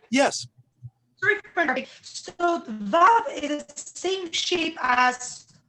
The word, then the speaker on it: Vav: Vav is, today we pronounce it as a V sound. However, in ancient Hebrew, it may have been a W sound.